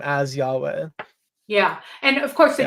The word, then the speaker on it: Yahweh: of them have that Yahweh or Yahweh. So it's 2 syllables, and it's the Yah always, and then the last syllables are different.